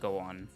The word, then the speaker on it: Gouon: The name Gouon comes from these Japanese kanji, which together can be pronounced Gouon.